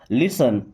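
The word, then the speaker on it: listen: बात सुनो लिसन देखिए केवल इस वर्ड को समझिए यहां या फिर टी है साइलेंट। ओके? क्या पढ़ेंगे? लिसन।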